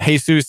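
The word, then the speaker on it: Jesús: guess not not to claim that the same syllables for a man that one would give to the Lord Jesus but hey soos is his name he's a little hard to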